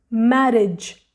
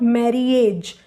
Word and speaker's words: marriage: the last word is marriage marriage in this word we don't hear the sound of this letter A this is not marriage this word is marriage